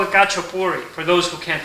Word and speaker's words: Khachapuri: Or you could call it Khachapuri for those who can't pronounce it. We say Khachapuri.